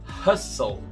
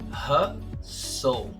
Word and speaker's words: hustle: E a letra que vai ser muda aí nessa palavra é a letra T. Então, juntando tudo isso que eu falei, como é que vai ficar? Hustle. Hustle.